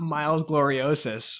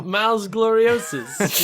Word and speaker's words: Miles Gloriosus: And I'm like, no, it's not Miles Gloriosus. You still, like, if you're going to use Latin words, you still have to pronounce them like Latin in the show. No, you man, know? Miles Gloriosus.